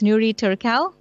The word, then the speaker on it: Nury Turkel: kind introduction all right so I hope I'm pronouncing your name correctly its new rhetorical yes you have okay wonderful alright let's get